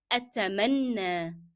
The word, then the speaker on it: أتمنى: that in Arabic as أتمنى أتمنى. Okay, do you remember why we are pronouncing ya as alif?